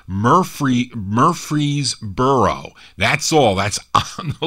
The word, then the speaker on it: Murfreesboro: Murfreesboro.